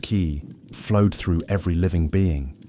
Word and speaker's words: qi: The invisible vital force called qi, pronounced ki, flowed through every living being.